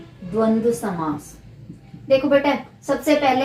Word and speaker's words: द्वंद्व: और तत्पुरुष समास, बहुव्रीहि समास, और ये द्वंद्व समास। क्या है? द व फिर द व, द्वंद्व।